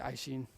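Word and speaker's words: Aisin: to pronounce it a-i-s a-i-s-i-n in japanese that'll be i shin okay an n panel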